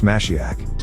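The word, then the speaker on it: משיח: root Masa to wipe in the Hebrew language it is pronounced mashiach meaning anointed from the Hebrew root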